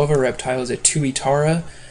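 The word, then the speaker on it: tuatara: a reptile is a tuara so that's how you pronounce that word as a tuara and these ones are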